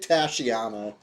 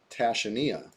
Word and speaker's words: Tashania: When I was trying to guess the pronunciation of this spell, I said Tasha or Tashana. And I like Tashana. Uh, but no, Tashania.